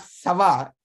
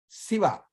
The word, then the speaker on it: Shiva: Maybe people in your life, whenever you have named somebody, whenever you heard about name Shankara or Shiva, you should say not Sava, not Shava, Shiva. Shankara, Shankara, from the middle of the mouth.